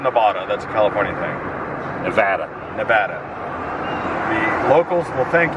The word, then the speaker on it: Nevada: Welcome to Fabulous Las Vegas, Nevada. Do you say Nevada or Nevada? It's Nevada. Nevada. Okay. It's not Nevada. That's a California thing. Nevada.